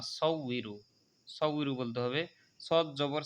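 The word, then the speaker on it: مُصَوِّرُ: মুসাউইরু উই ইরু, অনেকে বলে মুসাউ ইরু, ইরু হবে না, ই যদি বলেন তাহলে হামজা হয়ে যাবে, এখানে ওয়াজের উই।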